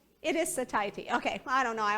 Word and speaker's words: satiety: It is satiety.